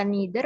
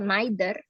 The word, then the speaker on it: neither: eitherer jadi ini ya cara bacanya neither bisa neither atau neither either atau either sama aja ya yang satu versi American English yang satu lagi versi British englisher bacanya atau neither sama